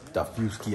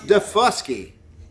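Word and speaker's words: Daufuskie: heavy d this uh this abandoned hotel on daffowski island just getting in it's pronounced defusky defusky heavy d is nuts like look how rough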